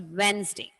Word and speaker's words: Wednesday: So, but when you write the spelling, don't forget to write the letter. So you syllabicate it, that is Wednesday. But when we learn the spelling, the pronunciation of the word is Wednesday.